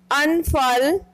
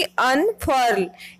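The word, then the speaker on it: unfurl: आपको जो स्क्रीन पर वर्ड दिखाई दे रहा है, इसकी ब्रिटिश प्रोनंसिएशन में आर साइलेंट हो जाता है। ब्रिटिश प्रोनंसिएशन होगी अनफल और अमेरिकन प्रोनंसिएशन होगी अनफर्ल, यानी कि अमेरिकन प्रोनंसिएशन में आर की साउंड आएगी। इसका मतलब होता है फहराना,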